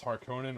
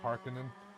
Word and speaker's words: Harkonnen: It reminds me almost more of like Dune, or like Dune 2, because you had House Harkonnen or Harkonnen, however you want to pronounce it.